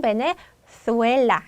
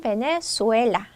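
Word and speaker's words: Venezuela: 한다고 했죠 그래서 베네수엘라 스페인 식으로 스페인 사람들은 베네수엘라 혀를 물고 하겠죠 자 중남미 사람들은 베네수엘라 자 이렇게 되겠습니다 자 그래서 요런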